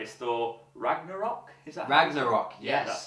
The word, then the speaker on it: Ragnarok: Is that Ragnarok? Yes. Yeah, that's how you say it. And by the pronouncing of that name Ragnarok, you know shit is gonna happen.